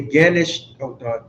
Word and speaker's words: gnashed: Oh, sorry, G is silent. They gnashed upon me with their teeth.